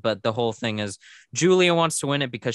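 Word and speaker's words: Giulia: guila no luca girl oh it's julia julia but it's spelled like yeah g-i-u yeah l-i-a um she shows up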